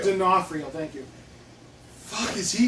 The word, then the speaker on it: D'Onofrio: Vincent, how do you pronounce his last name? Vincent D'Onofrio. D'Onofrio, thank you.